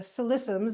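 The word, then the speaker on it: Ksi Lisims: the or northwest of the province is the solissums is the way you pronounce it liqufied natural gas project.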